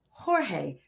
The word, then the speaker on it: Jorge: And I know you said George. No, Jorge. Make sure that you say it right.